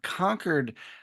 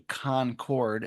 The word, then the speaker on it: Concord: And we should say that you are coming to us from Conquered, Massachusetts as opposed to Concord as some people might mispronounce it.